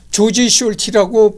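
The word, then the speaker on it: Georg Solti: 아닌 독일식에 이름으로 사용했다 실제 미국이나 영국에서는 조지 숄라 발음하는 경우도 있고 르그 솔에 가깝게 발음해주는 경우도 있다 우리나라 대부 게으르 티라고 표기하고 있다 자산은 아래의 바른 문단을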